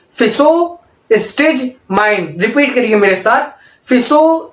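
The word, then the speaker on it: Physostigmine: हो रही है तो आप इसको टुकड़ों टुकड़ों में प्रोनाउंसिएट कीजिए। देखिए कैसे। फिसो, पहले बोलिए फिसो। ठीक है, फिसो बोल दिया। फिसो स्टेज माइंड। ठीक है, फिसो स्टेज माइंड।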